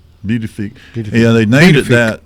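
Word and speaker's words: Pituffik: It's pronounced bedufi. Beautify.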